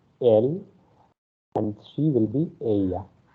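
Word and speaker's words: él: Okay, here it is not il. Okay, the way you pronounce in English. In Spanish, the letter E is pronounced as the letter A of English. Okay, so that's why you will say it L and she will be ella.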